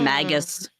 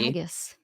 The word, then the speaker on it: Magus: always called it Magus. Hard G. Magus. Magus sounds like maggot.